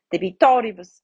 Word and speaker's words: debitoribus: Debitoribus, right? So debitoribus, here the penultimate I is short, right? So the I between the R and the B is short, so the accent goes to the antepenultimate. Debitoribus nostris et ne nos inducas, right?